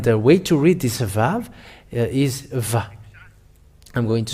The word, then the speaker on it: vav: But its pronunciation is V. The yod, hey, vav, hey, is read as vav.